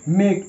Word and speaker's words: make: Next মেক, MAKE মেক, এখানেও ই silent, কারণ ই এখানে এই ওয়ার্ডটির শেষে আছে, সো ই ইজ the silent letter.